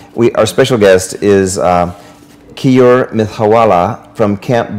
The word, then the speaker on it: Keyur: crazy the today we our special guest is key or myth hawala from Camp B XCOM did I pronounce it right okay great welcome it's key or okay you're okay you're okay I it's not